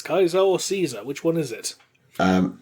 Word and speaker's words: Caesar: fallout it's kaizo or caesar which one is it um everybody apart from the man himself says caesar because that was the accepted english pronunciation at the time of the league except